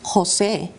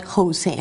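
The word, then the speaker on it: José: For instance, in Spanish, we have stronger sounds than the ones that we have in English. It is Jose and not Jose, for instance, or Jorge instead of Jorge.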